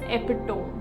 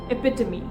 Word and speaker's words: epitome: The first word is Epitome. So how do we pronounce this word is?